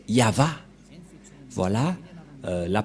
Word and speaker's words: Yahvah: V et he et la prononciation de ceci c'est yava voilà euh la prononciation